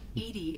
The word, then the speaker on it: EDI: are you named Edie Edie is the phonetic pronunciation of EDI that is an acronym for enhanced defense intelligence hey where are you